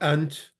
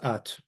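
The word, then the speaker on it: ܐܢܬ: So ant, which apparently is similar to the Arabic. So you can learn it as ant, but it's pronounced at.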